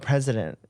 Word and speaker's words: precedent: Again, we're not experts, but when it comes to the law, everything is about precedent.